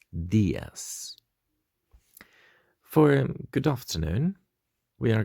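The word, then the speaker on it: días: dias buenos dias so as you can see the eye on the dias has got a little accent so we'll have to be stressing that sound a bit more buenos diaz for good afternoon we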